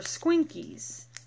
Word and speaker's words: Squinkies: how you pronounce them are they their Squinkies like a squeaky ball yes anyway I like